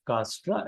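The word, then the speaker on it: Dijkstra: named as a dig castra and J is silent in speaking so it is called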